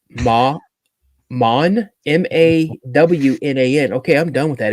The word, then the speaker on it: Mawnan: I don't know how to pronounce it. It's Mawn, Mawnan.